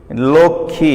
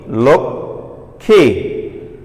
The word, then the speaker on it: লক্ষ্মী: তা খেওর সাথে আমি মফলা যুক্ত করেছি লক্ষ্মী, এখানে ময়ের কোনো উচ্চারণ আছে? অবশ্যই নেই, এটি হচ্ছে কি লক্ষ্মী। দেখো এখানে কিন্তু একটি হসন্ত চিহ্ন রয়েছে, লক্ষ্মী।